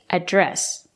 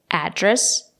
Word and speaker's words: address: or you can say address you can stress the first syllable address or you can stress the second syllable address both are correct what's your address or